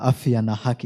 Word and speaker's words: Afya na Haki: I'll continue as I pronounce it throughout the Baraza, Afya na Haki Institute.